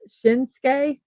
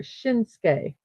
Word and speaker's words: Shinsuke: Oh, it's typically pronounced Shinsuke. So right there, Shinsuke.